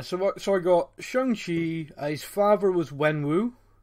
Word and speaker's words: Shang-Chi: their names yeah so what so i got shangshi his father was wen wu yeah mother was